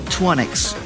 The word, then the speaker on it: Troisnyx: The user is Twonix. That is spelled Troisnyx.